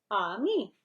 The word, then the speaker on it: ami: You say it like this, ami.